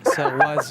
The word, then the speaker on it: Saoirse: Ouais, Saoirse Ronan. mais il faut pas demander à Sorci- Maxime. Sorci- Saoirse Ronan. Swarz. Swartz Saoirse Ah non, Ronan.